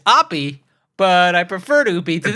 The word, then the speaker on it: Oppy: until you recognize that it's not oopy it's Opie but I prefer to